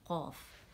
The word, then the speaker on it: قاف: بعد والا حصہ ہے، یہ اوپر جاتے نرم تالو سے لگے گا تو قاف ادا ہوگا، ٹھیک ہے، قاف، اور اسے جب ہجے کرتے ہیں کھینچیں گے، کتنا کھینچیں گے، قاف، 4 کاؤنٹس۔ کیف کے لیے کیا